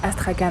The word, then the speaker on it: Astrakhan: peu et d'aller visiter la ville d'Astrakhan, qui s'écrit Astrakhan en fait.